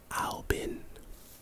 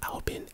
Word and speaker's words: Albin: s s q lbb111116 all of this is pronounced Albin like I'm not kidding it's pronounced Albion a-l-b-i-n again it's it's a mystery and